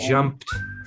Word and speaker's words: jumped: to remember is that when you see the the p here you need to roll it again straight from the p to a t sound so i jumped now it's also difficult